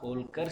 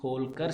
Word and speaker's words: Holkar: Third one, Holkar Stadium. See friends, the first three letters is HOL. Its pronunciation is Hall.